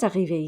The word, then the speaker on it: arrivé: Now remember, the pronunciation of arrivé does not change, even though there's an extra E and an S.